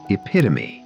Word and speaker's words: epitome: Correct pronunciation is epitome. It's one of those words that look nothing like it sounds.